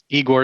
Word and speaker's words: Igor: me my name is igor i know what you're thinking uh how do you pronounce that z-h there it says z it's a z sound it's russian um but